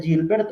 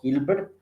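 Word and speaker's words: Hilbert: el espacio de Gilbert se pronuncia Gilbert o Gilbert pero es es un espacio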